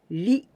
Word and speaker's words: 理: This kanji's meaning is reason, and we pronounce ri.